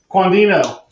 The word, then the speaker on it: Quandhino: Quandhino. Quandhino. Thanks for having me. We pronouncing that correctly, right?